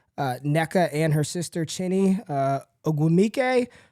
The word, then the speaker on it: Ogwumike: So Nneka and her sister Chinny Ogwumike. It's Ogwumike. I've been saying it wrong all year.